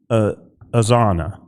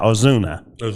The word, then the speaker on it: Ozuna: Marcel Oana, and I probably mispronounced it. I'm I'm so upset right now. Ozuna.